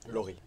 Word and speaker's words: Laury: Donc, nous avons maintenant avec nous Lowry, ou Laurie? Laurie, Laurie, ok, c'est la prononciation pour les française, Français.